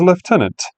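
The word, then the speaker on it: lieutenant: and commands acting as left tenant. Yes, that's how it's actually pronounced for those of you living in the colonies because it's a French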